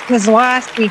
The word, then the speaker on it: Kizlawski: Hi, it's Kizlawski cuz I lost the key.